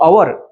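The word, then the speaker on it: hour: होते म्हणून नेस्ट म्हटल तसच अवर याच उच्चारण हवर अस होत नाही सुरू झाल असत तर आपण अवर म्हटल असत पण जे प्रोन्सशन आहे ते अवर असं होते अ या अक्षराने समजा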